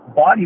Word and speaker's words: Bawdy: I mean, you can go from instrumental, from harpist, and then you can go up to the body performers that sing some awesome body songs, which is spelled Bawdy.